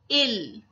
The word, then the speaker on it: ils: Then the third one is il. So this is also il and il is also ill. So this s will not be pronounced.